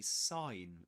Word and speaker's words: sign: So the the the the G is silent. This letter is silent. We don't pronounce it. There you have it. There you have it. You say sign.